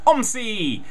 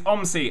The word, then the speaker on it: OMSI: Bus Simulator which I will now be referring to as omy uh I have no idea which way you're supposed to pronounce it but it's going to be pronounced omy because it's a fun word uh this is uh